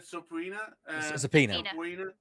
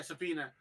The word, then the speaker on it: subpoena: yes Apple are attempting to how do you pronounce that word sopra yeah subpoena they're attempting to subpoena valve Cor uh for